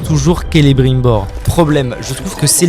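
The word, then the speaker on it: Celebrimbor: si je ne dis pas de bêtises se prononce toujours calibrer bord problème je trouve que c'est les brimboard c'est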